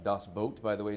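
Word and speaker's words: Das Boot: films of all time is Dos boat um pronounced dos boat by the way not dos boot yeah I found that out my first day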